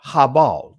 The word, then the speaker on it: Abel: I want to touch on Cain, right? Kayan or Kwayan. I'm going to touch on Abel, Habal. Those are the ancient Hebraic pronunciations of their names, to show you and